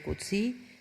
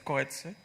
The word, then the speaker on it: Coetzee: Su ponencia es sobre Coetzee, censura y libertad de información.